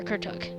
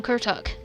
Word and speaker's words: Kuruk: a thousand Generations before kuruk Kur I don't know why I keep calling him kuk it sounds like his it sounds like the r is silent in the center and one that would